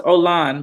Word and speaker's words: Olan: to me it's ol it's pronounced Olan by the way o Olan I feel